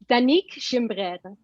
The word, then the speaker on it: Danica Gim: Okay, it's Danica Gim.